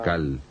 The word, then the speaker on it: Naacal: tierra de este ciclo se llamaba naacal n a a c a L o nal depende de có lo quieran pronunciar y él era como